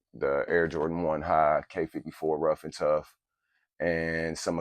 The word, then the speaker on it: Quai: of people think it's Kai or Quai but actually uh it's a French word and it is actually pronounced K uh the pronunciation of